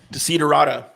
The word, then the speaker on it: Desiderata: Desiderata.